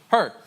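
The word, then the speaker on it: Hur: people there Aaron and who her h-u-r I guess that's how you say it sounds good enough to me her so Aaron and her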